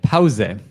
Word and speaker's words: Pause: Yes, we also pronounce the E in the end. Pause.